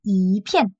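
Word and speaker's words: 一片: coup, en il va changer sa manière de prononcer et du coup, ça deuxième ton, c'est 一片.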